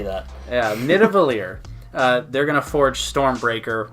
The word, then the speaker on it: Nidavellir: Thor, Rocket, Groot go to Nidavellir, right? You think that's how it's pronounced? Let's say that. Yeah, Nidavellir.